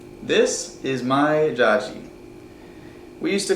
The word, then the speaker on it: Dziadzi: This is my Jaji. We used to call him Jaji growing up. Jaji is Polish for grandfather. So that's just what we always called him growing up. Jaji.